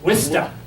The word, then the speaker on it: Worcester: born in Worcester, Massachusetts, but we pronounce it Wista. And that's how the W-I-S-T-A is the way it's pronounced there.